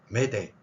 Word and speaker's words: m'aider: 수가 있는데 그거 말고요 위에 표기한 저 발음을 프랑스어에서는 어떻게 발음이 대충 되냐면 프랑스어 설명하는 시간 아니니까요 메 메데 이렇게 됩니다 프랑스어의 알 발음은 우리말에